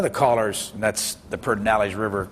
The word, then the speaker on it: Pedernales: But one of the callers, and that's the Pedernales River, which by the way doesn't have an R in it there, but that's the way you pronounce it, talked about Lyndon Johnson being ruthless but successful.